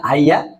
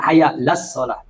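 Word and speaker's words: حَيَّ: sama dengan ini harusnya Hayya Al bukan Haya harusnya Hayya Alal Falah ini malah bacanya Hayya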